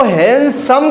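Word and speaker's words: handsome: ही इज हैंडसम इसमें बेटा D silent होता है इसको हैंडसम कहते हैं हैंडसम नहीं कहते ध्यान दीजिएगा इसको हैंडसम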